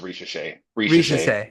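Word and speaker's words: Risacher: share Ros Ros how do you say it's Rish re yeah that's what I said what did you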